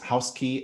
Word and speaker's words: Housky: house dot io and that's h o u s k y dot i o yes and it's house key at uh house key dot io is the